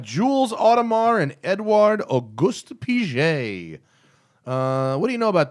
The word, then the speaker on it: Piguet: I will correct you, though. It's Piguet. What did I say? Piguet? Piguet. Oh, yeah. It's just Piguet. It's Piguet. A hard G.